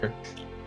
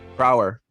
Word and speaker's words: Crower: Is that I'm saying it right? Kerr? Crower. Crower, thank you.